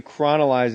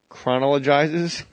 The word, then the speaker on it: chronologizes: it's just it basically chronolizes is that the right way to say that chronologizes yeah that's the one it chronolyzes it puts